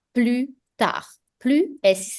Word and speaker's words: tard: This one is pronounced as à plus tard. Plus is silent, tard, D is silent. So à plus tard.